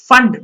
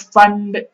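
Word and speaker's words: Pfund: फंड, P silent होता है बेटा, फंड होता है जब n=5 में आता है इलेक्ट्रॉन।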